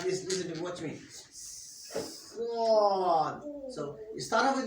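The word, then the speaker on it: صاد: So you must make sure you do not move your lips when pronouncing the sword.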